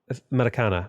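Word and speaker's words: Maracanã: Maracana, not ña. Ña is like a Spanish thing. I think this is Portuguese.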